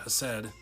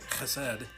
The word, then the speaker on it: Chesed: Actually, I should have gone through these definitions before I read the entire page of the webpage all about Hesed. I can't say it right. Chesed.